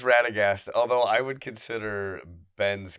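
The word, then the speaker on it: Radagast: Him and our other good friend Ben Waters who soft cosplays as Ratagas. Is that how you say it? It is Ratagast.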